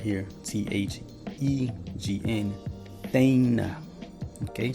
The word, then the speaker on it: thegn: But then we see the real word right here, Thegn, Thane. Okay, so it's pronounced the same.